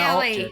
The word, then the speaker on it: Gelly: hi, hi, Verity and No, Gelly. no, hard G.